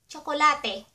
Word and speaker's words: tsokolate: Chocolate Tsokolate Tsokolate Tso (pronounced cho) tso ko la te tsokolate And I have a mochi here.